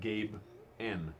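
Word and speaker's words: Gaben: Gayben. Gayben. G-A-Y-B-E-N. Because of how Gabe Newell pronounces his address. Which is Gabe N.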